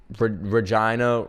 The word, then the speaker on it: Regina: Regina rhymes with fun. Get it? Cuz Regina rhymes with vagina.